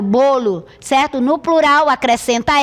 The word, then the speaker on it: bolo: Palavra bolo no singular, olha a pronúncia, fechado, bolo, certo?